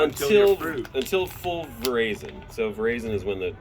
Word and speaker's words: veraison: until full veraison.